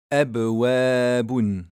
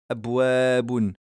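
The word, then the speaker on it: أبواب: Par exemple, dans le mot abwabun, on entend bien le soukoun sur le ba. Maintenant, si je ne donne pas ce rebondissement sur le ba, ça va donner abwabun.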